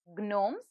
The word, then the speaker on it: gnomes: missing in it yes the word is gnomes and the silent letter in it is g now like this you